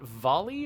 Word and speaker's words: Volii: Neon is in a system called, I think they've been pronouncing it Volley or Voli. I want to pronounce it Volii because it's got two I's, and that feels right to me. So it's Volii, I guess.